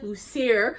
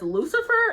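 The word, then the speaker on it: Lucier: like unfortunately other people, I originally read this as Lucifer and I was like, what? But it doesn't have the F.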